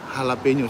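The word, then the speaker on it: jalapeño: ispan atau sukus-uku Ind Mungkin dia J itu dibaca H ya kayak kayak jalapeno itu Lombok yang hijau itu dibacanya halapeno setahuu si gitu ya enggak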